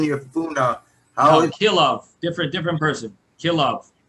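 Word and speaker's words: כלאב: Kilav, not Kolev. Okay, it's a Kilav. different spell. Spelled differently, and it's pronounced differently.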